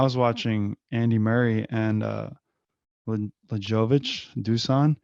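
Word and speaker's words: Lajović: But I remember when I was watching Andy Murray and Lajovic, Dusan, It's actually pronounced Lajovic, apparently.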